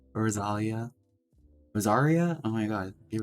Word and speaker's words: Rosaria: Mommy Rosalia. Rosalia. Rosaria? Oh my god, I keep on saying her name wrong.